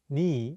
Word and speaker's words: 네: The question for this lesson is, why is 내, meaning your, sometimes pronounced ni in Korean? 내 is the shortened version of the casual possessive 너희, meaning your. It often gets pronounced as ni instead of 내 in spoken Korean.